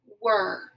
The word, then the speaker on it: were: it says the sound the e r e is the tricky part of this word and those three letters work together to say the er sound so this is the word were w e r e